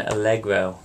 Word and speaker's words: allegro: sure you know those three Tempo terms it's pronounced Andante Mado and algro don't say it wrong I just said it